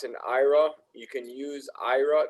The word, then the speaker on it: Aira: So if you guys are not aware, Starbucks and Ira, you can use Ira. It's spelled AIRA.